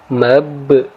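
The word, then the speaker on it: مبثوث: Maka huruf ba di sini, huruf ba yang berharokat sukun di sini kita baca dengan cara menekan, kemudian kita sedikit memantul. Ya, jadi cara membacanya mabsus, ya, mabsus.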